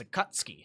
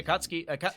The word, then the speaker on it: Akatsuki: I think it's actually how you say it, is Akatsuki. I think that's how you say it. I don't think you're supposed to pronounce the U.